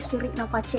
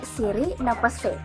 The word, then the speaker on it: siri napace: Nah, namun sebelum kita bahas arti dari siri napace ini, perlu kita ketahui bagaimana sih cara membacanya. Saya pun baru tahu beberapa waktu lalu ternyata cara bacanya itu bukan siri napace, tetapi siri napase.